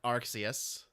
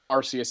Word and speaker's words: Arceus: pronounce the the god of pokemon i like arxius is the correct pronunciation but i prefer i don't care arceus is how i do it i don't care